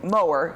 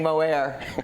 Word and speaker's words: Moher: it I was saying moehr you know like oh it's been pronounced several different ways but yeah so it's like a lawnmower but nobody doesn't know how to say it more yeah so great so